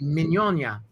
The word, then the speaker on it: Mignogna: ferrigno gn combination and my my actual last name in if you were in the old country would be mignon oh mignon no i mean no